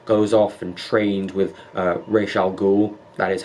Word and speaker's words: Ra's al Ghul: I really like how Batman goes off and trains with Ra's al Ghul. That is how you pronounce it, by the way. It's not Ra's al Ghul.